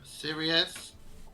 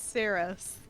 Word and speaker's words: Cirrus: Okay, so next up is Sirius. That's what I'm calling you now. It's in my head. It's Cirrus. It's only 2 syllables.